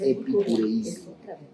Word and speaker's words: epicureísmo: Esta que salió aquí en el versículo 12 es epicureísmo. Primera corriente filosófica. Son 4. Yo las voy a dictar para que no nos compliquemos la vida. Sí. Primera corriente filosófica, epicureísmo. Epicureísmo, acento en la I.